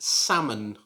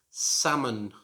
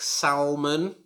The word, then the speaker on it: salmon: word should be pronounced salmon salmon again there's a silent letter in it there's the silent l so you should not pronounce it like salman as i sometimes hear